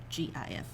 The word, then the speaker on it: GIF: it so you say g-i-f yeah i say gif because g goat g girl gu gif yeah it makes sense